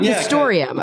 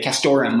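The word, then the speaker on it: castoreum: castrorum castrorum yeah castori how do you pronounce it um historium okay historium that's what yeah that's what I say and other people pronounce it pronounce it differently um you know I heard people say Korum without the without the e that's how a lot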